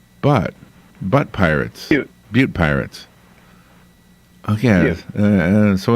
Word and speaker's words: Butte: Butte. All right. The Pirates are a tame name unless, of course, you put them in a town called Butte Pirates.